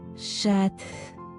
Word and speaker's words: chat: But apparently, yeah, feminine cat is shat and male cat is just sha sha sha sha sha.